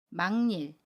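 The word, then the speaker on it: 막일: 니은 미움으로 발음 해요 그래서 망 닐 이라고 발음합니다 아침 기억이 이은 을 만나서 이은 으로 발음 해요 망 닐 이번에는 바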